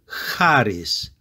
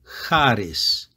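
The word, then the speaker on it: χάρις: or the German way of saying the musician's name Bach it sounds much stronger than in the previous examples the first word here is haris Harris Harris this is a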